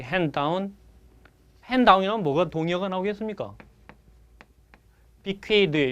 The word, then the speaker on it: bequeath: bequeath 여러분 이 발음은 쓰 발음 나기도 하고 드 발음 나기도 해서 bequeath는 물려주다 이렇게 번역하게 됩니다.